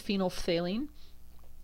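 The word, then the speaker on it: phenolphthalein: used indicator molecules are phenol Faline you've got to say the F and the th if you're going to say it properly that's phen Faline um at ph8 it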